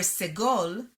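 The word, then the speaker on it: סגול: However, in Ashkenazi Hebrew, they are distinct, where segol is pronounced e, tzere is pronounced a.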